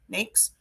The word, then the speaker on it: NAICS: the heck is an n a i CS pronounced n naked next NES it is a code and a classification within